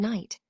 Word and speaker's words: night: And in K and night, the K isn't sounded out.